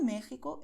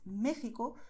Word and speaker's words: México: Entonces, México puedes pronunciar con ese sonido suave, México, o con ese sonido más fuerte, México. Pero no puedes pronunciar en español México, porque México es incorrecto, no está bien, ¿vale? Porque es una excepción.